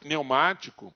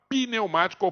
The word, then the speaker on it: pneumático: um é um macaco neumático ninguém fala neumático a pessoa fala pneumático pneumático certo ela coloca um e na pronúncia que não tem na escrita então é lógica do